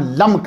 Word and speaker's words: लम्क: हजरत नूह अलैहिस्सलाम के वालिद का नाम लम्क है। तबकात इब्न साद ने यही तलफ़ुज़ प्रोनाउंस किया है।